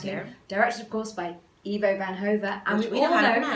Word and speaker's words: Ivo van Hove: Directed, of course, by Ivo Van Hove. And Which we we all know how to know pronounce.